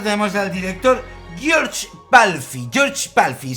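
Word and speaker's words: György Pálfi: George Pálfy se dice así en húngaro, sí, que lo he buscado.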